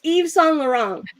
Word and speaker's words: Yves Saint Laurent: Yves Saint Laurent? So it's Yves Saint Laurent. Diba? Tagalog dapat ang kapag kaka-pronounce niyan.